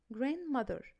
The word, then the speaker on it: grandmother: don't pronounce the letter D if it comes after the letters N. يعني لا تنطق حرف الدي إذا جاء بعد حرفي الآن. الإجزامبلز اللي عندي إيه؟ grandmother grandmother.